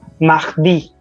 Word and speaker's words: mardi: Some people will also call it mardi. That I won't say it is wrong because in the beginning you can call it as mardi, but the correct pronunciation is mardi. All right. Because R in French language is somewhere pronounced as kh. Sometimes only, not always, because it's not parler, it's parler. All right.